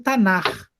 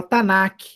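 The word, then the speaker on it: Tanakh: E a sigla eu leio Tanar. Tanar. Tem muita gente que lê errado e fala Tanak. Tá errado, Tanak, tá? A pronúncia correta da sigla é Tanar.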